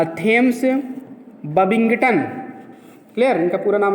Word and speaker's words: Thomas: इनका पूरा नाम है थेम्स बबिंगटन।